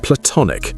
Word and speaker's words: platonic: Listen to how I pronounce it. Platonic with a schwah in the first syllable and the stress on the second.